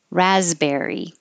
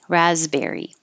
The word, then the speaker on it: raspberry: had no idea triathlon raspberry that s is a z raspberry and scissors remember that